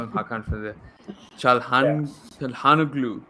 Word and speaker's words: Çalhanoğlu: Çalhanoğlu. Yeah, that's how it's said.